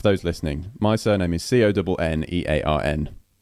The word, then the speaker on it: Connearn: So, for those listening, my surname is Connearn, right? Connearn, which is basically like Connor with an N on the end. That's how you pronounce it, Connearn.